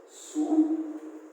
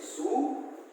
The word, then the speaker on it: Sue: Sue. Okay, don't call her Sui. It is a very bad pronunciation. Okay, so the name is Sue and John C.